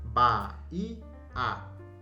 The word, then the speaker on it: Bahia: Bahia. Olha só, a penúltima sílaba aqui, ó, o I, fica sozinho. Bahia. Então, Bahia aqui é paroxítona. Pronto.